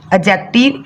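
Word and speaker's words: adjective: टी आई वी ई एडजेक्टिव इसमें डी जो है साइलेंट हो जाएगा तो क्या पढ़ा जाएगा एडजेक्टिव पी आरई पी ओ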